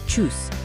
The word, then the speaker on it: Tschüss: When saying goodbye informally, use Tschüss, pronounced like choose.